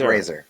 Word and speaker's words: Fraser: Razor. Like Fraser. razor. Right, Frasier. right. Yeah. Brendan Not Fraser. not the TV show Frasier.